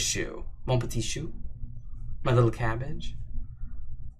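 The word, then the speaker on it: chou: and my little shoe oh it's pronounced as shoe monkey shoe my little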